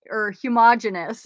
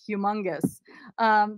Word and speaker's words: humongous: I can't remember how I pronounced it, but tea auctions for you said homogenous. And I said something else and I'm like, oh my goodness, it's humongous.